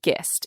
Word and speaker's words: Gist: opposite it's it's spelled just yes but it's pronounced gist yes christopher gist yes there it is so this is a